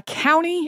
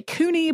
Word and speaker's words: Couney: some people say uh County and I've heard some people say Cooney but Cooney seems to be the more common from a medical ethics